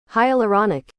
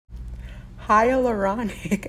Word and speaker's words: hyaluronic: so it's just funny here's how you say it hyaluronic hyaluronic acid is actually found